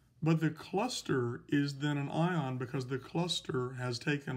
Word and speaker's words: anion: it is pronounced cation a-n-i-o-n-s it's pronounced anion so here are some